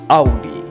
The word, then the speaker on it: Audi: But yes, in German it is pronounced Audi. Yes, it's Audi. Anyway, it's a Latin word.